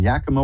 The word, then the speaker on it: Yakima: Karen in Yakima, Washington. Hi, you're on with Reverend Elliot. Hi, Elliot. Hi, did I pronounce that right, Yakima?